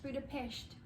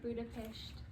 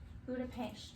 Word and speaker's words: Budapest: a brutal fish it's budapest that's how you say it everyone says it like that but actually in hungarian the s is pronounced like shh so budapest budapest yeah so our pictures